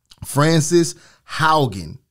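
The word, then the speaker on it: Frances Haugen: was down what's that was down right yeah francis haugen is how you pronounce her name 37 year old female is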